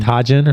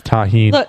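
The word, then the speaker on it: Tajín: like tajin or some shit. I don't know what it was Tajin. called. It was. How you say it? Tahine. Tajin. I That's thought it was tajin.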